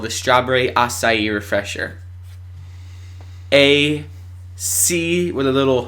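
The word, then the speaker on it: açaí: That's what the word acai looks like on the Starbucks menu. And that's how you're supposed to say it, is acai.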